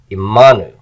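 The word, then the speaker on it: עמנו: And then finally, imanu. Here I have imanu. There's my new ending. My accent is on the ma. Imanu.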